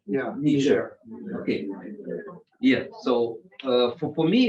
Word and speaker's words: Niger: What is the English pronunciation? Niger. Yeah. Niger.